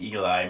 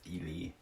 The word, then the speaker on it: Ely: We were calling it Eli, Minnesota, but it's not. It's Ely. It's spelled Ely.